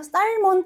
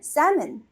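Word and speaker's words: salmon: 자 그럼 요거는 어떨까요 우리 연어 연어 살몬 아닌가요 살몬 근데 영어로는 살먼 이렇게 얘기 해 버리는 거야 먼 근데 이게이 방금 나온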